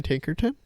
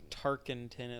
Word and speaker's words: Tarkenton: Fran Tinkerton?